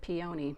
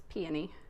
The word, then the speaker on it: peony: Some people pronounce it peony, but again, I'm a goober and I looked it up. It's peony.